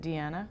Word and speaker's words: Deanna: Deanna says, my name is actually with a Spanish pronunciation. Okay, is that why you said Deanna? Yes. Because that's how you'd say it?